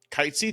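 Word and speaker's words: Cait Sith: where we where you meet K am I pronouncing it right K kite SE yes I got up to him and then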